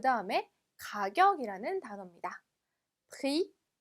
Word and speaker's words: prix: prix. 자, 마지막 x 역시나 발음되지 않네요. 그래서 prix가 아니라 prix라고 보시면 됩니다.